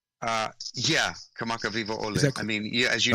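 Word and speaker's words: Kamakawiwoʻole: Kamaka Wiwole? Yeah, Kamaka Viva Ole.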